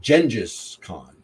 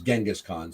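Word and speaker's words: Genghis Khan: guess the pre I'm sorry the um correct pronunciation is actually I believe Jenis con I've I always learned it my entire life as genghiskhan so I still that but I believe the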